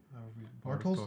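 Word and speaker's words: Bartosz: Bartos, that's how you say it.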